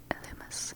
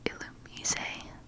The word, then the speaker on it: Illumise: It's Illumis, which I recently found out is supposed to be pronounced Illumise.